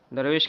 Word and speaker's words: درویش: کی جمع ہے درویشاں، درویش کے معنی فقیر کے آتے ہیں۔ تو اس کا صحیح تلفظ درویش ہے، بعض لوگ درویش پڑھتے ہیں، وہ غلط تلفظ ہے۔ تو باب دوم در